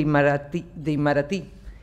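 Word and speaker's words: Itamaraty: los servidores públicos de Imaratí, que creo que es con acento en la I última.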